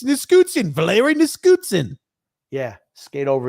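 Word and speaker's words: Nichushkin: Grumpy can't pronounce names. What are you doing? It's Niskutsin, Valeri Niskutsin.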